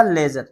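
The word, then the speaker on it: ledger: एल ई डी जी ई टी यह जी के पहले डी आ गया तो डी साइलेंट रहेगा तो लेजर क्या पढ़ा जाएगा लेजर लेजर माने वही खाता जैसे जी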